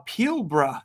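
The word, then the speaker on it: Pilbara: really good ideas uh pilbra is another way to pronounce it apparently peel like peel and orange interesting and let us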